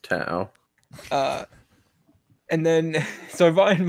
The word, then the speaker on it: Tao: ta along with a loot of other it's pronounced ta it's pronounced to uh and then so Ryan Ryan makes a